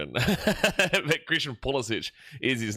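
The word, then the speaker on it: Pulisic: Really want to emphasize this here for the Americans who watch their team and say that they love Christian Polysic. It's Polic. His name is pronounced Polic.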